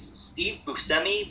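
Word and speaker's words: Steve Buscemi: I was saying his name wrong, but it's Steve Busi.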